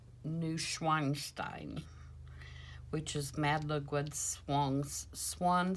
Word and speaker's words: Neuschwanstein: And I believe that it is pronounced Neuschwanstein, which is Mad Ludwig's swan song.